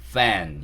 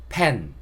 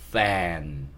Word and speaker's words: fan: F가 피읍과 비슷한 소리가 난다고 했어요. 근데 완벽하게 피읍 소리를 내지 않습니다. 그래서 이 단어를 피읍 소리를 이용해서 pen 이렇게 발음하는 게 아니라 피읍 소리와 좀 다른 F 소리를 이용해서 fan 이렇게 발음해 주셔야 돼요. 소리는 약간 바람을 많이 뿜어주시면 됩니다. 그리고 입술이 붙었다 떨어지는 게 아니고 그 입술이 붙지 않는 그 공간으로 바람이 많이 나오는 거예요.